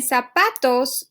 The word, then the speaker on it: zapatos: And then zapatos, we can see here that ending S. So the stress is in the next to the last syllable. So the syllable that needs to have the stress will be pa, right? So zapatos.